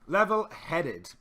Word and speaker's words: level-headed: Level-headed, okay? Make sure that you get the id sound at the end.